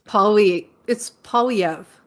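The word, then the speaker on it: Poilievre: Now, I sort of agree with you, but I always want to say Polyev, but I can't pronounce it. It's Polyev.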